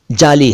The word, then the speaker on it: जाली: लेकिन उच्चारण दोनों का ही जाली है। वैसे जाली है लेकिन जाली कोई कहता नहीं है, अरबी स्टाइल में कोई बोलता नहीं है, उसको भी जाली कह देते हैं, जैसे जाली नोट, जाली कागजात वगैरह।